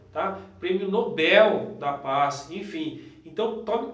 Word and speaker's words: Nobel: a palavra, o pessoal tem mania de falar Nobel, prêmio Nobel. Na verdade, pessoal, é Nobel, tá? O correto seria Nobel, tá? Prêmio Nobel da Paz, enfim.